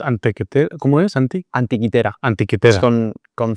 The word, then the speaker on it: Antikythera: Antiquitera. Es con c, pero bueno, viene del griego, entonces se pronuncia con con has oído hablar de él.